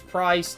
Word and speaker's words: Pryce: obviously his name is price it rhymes with ice he uses the fire